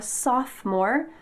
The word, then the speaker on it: sophomore: If you are in 10th grade, you're a sophomore. Notice that the O in the middle of this word is silent.